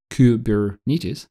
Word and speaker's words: Kubernetes: Or in the Kubernetes world, Kubernetes, now I pronounced correctly, you have a control plane, which